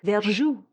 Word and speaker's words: verjus: a milder acid like verjus. Verjus, it's spelled like verjuice, the juice from unripened wine grapes.